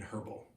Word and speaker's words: herbal: And yes, for some reason in the natural philosophical and natural historical context, people usually pronounce the H in herbal.